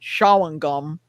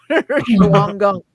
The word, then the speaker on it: Shawangunk: There's you're not going to pronounce this right, Shawangunk. Shawangunk.